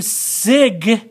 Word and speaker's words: signature: is now sounded so if i have sine then that one's silent but if i do signature this one is now sounded so isn't that interesting